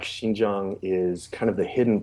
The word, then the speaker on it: Xinjiang: we're talking about I'm going to let you pronounce it yeah it's the shinjang region which is the far Northwestern most people